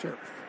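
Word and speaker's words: Scherff: Chris Jones blowing it up see him take on Sheriff and that's how you pronounce it Brandon Sheriff told us it's sure that's all Chris Jones 95.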